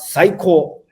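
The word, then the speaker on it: 最高: It's called psycho. It sounds Psycho. like psycho. It sounds like Yes. psycho in English, but yeah, but it basically means amazing.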